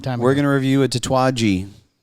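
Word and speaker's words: Tatuaje: We're going to review a Tattooi. Tattooi. Tattooi. That's how you pronounce it.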